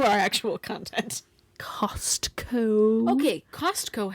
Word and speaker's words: Costco: Okay, Costco has a T.